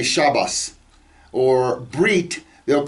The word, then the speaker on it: bris: they call it a bris. And I've told you before that the there are certain sects of Jews who pronounce the T sound at the end of a word as an S.